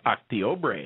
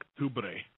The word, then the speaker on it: Octubre: It's Octiobre. Is that how you say it? Octubre. Octiobre. Octiobre. No. Noviembre? It's Octubre.